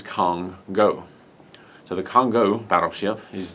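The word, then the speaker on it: Kongo: I do apologize, but according to them, the correct pronunciation of the ship that is coming out is Congo.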